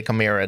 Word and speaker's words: chimera: the ch is this so it's like clymera a chimera chimera actually let's just figure this out if we just put it into google translate and we'll figure it out pronunciation um will just tell me camera camera camera chimera i mean the uk say like foreign chimera chimera okay i'll try and remember to say kamira then set a chimera